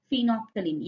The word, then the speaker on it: phenolphthalein: It is phenolphthalein. L is silent.